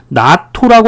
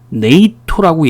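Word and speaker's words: NATO: 나토라고 발음 안 하고 이것도 자음 하나, 모음 하나, 네이토라고 얘기를 해요.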